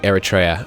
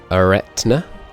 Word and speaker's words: Eretna: Obviously, so people were saying I was pronouncing this wrong because I was saying Eritrea, and Eritrea, as people pointed out, is in Africa. This is Eretna, I guess. I hope that's a bit closer.